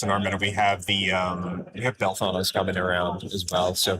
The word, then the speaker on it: Belthanos: You're the only guy I know that likes to call him Belthanos. That's how it's pronounced. No, it's not. There's an accent. Belthanos. It's like he works at Taco Bell.